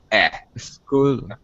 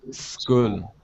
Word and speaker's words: school: same word Y and make sure that you're not saying a school make sure school no e school school that's it school okay now all right